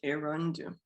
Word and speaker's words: Erondu: My middle name is pronounced, and my last name is pronounced Erondu. So it's that ndu.